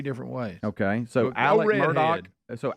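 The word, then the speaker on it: Murdaugh: am I saying that it's spelled murd but they say Murdoch okay all right then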